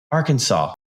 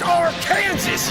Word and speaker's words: Arkansas: Yeah, Arkansas. Who knew? It's pronounced Arkansas, you idiot!